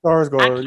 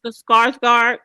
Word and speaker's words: Skarsgård: Skarsgård, yeah. Yes, Skarsgård.